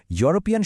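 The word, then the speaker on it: European: ইউরোপিয়ান শব্দটা যদিও ইয়ে শুরু কিন্তু এর উচ্চারণটা হলো ইউ। যেটা একটা কনসোনেন্ট সাউন্ড।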